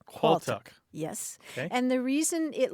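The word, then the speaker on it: qualtagh: and that word is qual now let me explain it's spelled a little bit strangely it's qu a a l t a g h qual yes and the reason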